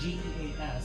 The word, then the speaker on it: geas: I'm casting the geese spell on her. The geese spell? Sorry. I'm sorry? I might have said it wrong, but it's pronounced Geas.